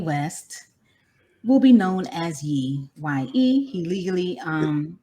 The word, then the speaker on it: Ye: So really quickly, those of you who don't know, Kanye West will be known as Ye. Y-E. He legally Is it Ye or Yay? Yay. Well, Yay. Yeah. I said it wrong.